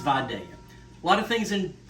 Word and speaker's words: Vidalia: Now, if you're not from the South, you might not know this, but the correct pronunciation is Vidalia. Okay, I've heard some chefs on TV refer to them as Vidalias and Vidalia, and so, no, folks, it's Vidalia onion.